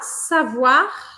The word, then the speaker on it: savoir: Do A, savoir, aqui eu pronuncio esse R.